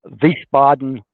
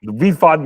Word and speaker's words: Wiesbaden: Is that how you pronounce it? Wiesbaden Yacht Harbor. Wiesbaden, yeah, that's right.